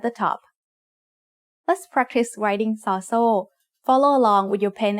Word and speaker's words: ซอโซ่: ซอโซ่ makes an s sound like the S in sun when it's the initial sound of a syllable. And when it's the final sound of a syllable, it also makes a T stop, which is a dead sound.